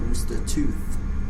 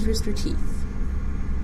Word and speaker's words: Rooster Teeth: pretty much and uh is it Rooster Teeth or rooster tooth it's Rooster Teeth yeah you can spell